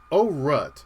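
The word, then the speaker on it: Aurat: a very specific reason oh rut now that's spelled a-u-r-a-t now you're wondering why am i pronouncing it that way well let me get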